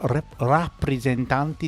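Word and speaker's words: Rappresentante: My favourite was the song Ciao Ciao by La Rappresentanti di Lista. I always want to say represent because in English, but in Italian it's ra, not re.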